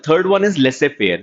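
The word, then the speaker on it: laissez-faire: लेसे फेयर क्या होता है? जेड इज साइलेंट है, इंग्लिश के साथ से बताया तो बहुत से लोगों को पता होगा।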